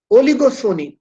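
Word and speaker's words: oligopsony: one buyer mono Sony oligo Sony p is silent oligo means few Sony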